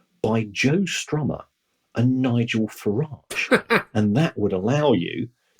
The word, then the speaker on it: Farage: even more, Kieran, is when you pronounce his name the way it should be pronounced, which is Farage, which is how the rest of his family pronounce it. While Nigel Farage would want the French-sounding pronunciation of his name, I don't know.